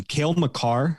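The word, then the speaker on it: Cale Makar: a look at from 1920 tim correct my pronunciation kale macar of the avalanche yes i got it right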